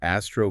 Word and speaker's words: ASTRO: Because of this compelling evidence, the 2025 ASTRO guideline, Astro, pronounced like the word Astro, makes a strong recommendation.